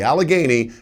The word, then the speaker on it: Allegheny: The Ohio, the Alagany, and the Did I say it right? I'm being told I said it right.